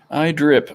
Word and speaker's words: iDrip: And you said your Instagram is just that iDrip? Yeah. Cool. Yes, I've been saying it right the whole time. iDrip.